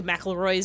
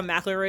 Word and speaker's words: McElroy: Ever since I learned how McElroy is pronounced, I read it as mackerel.